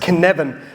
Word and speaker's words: Cynefin: This is pronounced Cynefin.